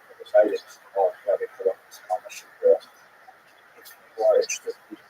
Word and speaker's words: Shapira: Rabbi Shapira is the common English transliteration of his name, although it really was pronounced Shapiro in Poland.